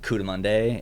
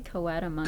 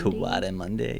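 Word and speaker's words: coatimundi: This is a canyon that, like, you can see Cudamonde and I think they're actually Coatamundi. Coatamundi, yeah. That's what Google pronunciation said.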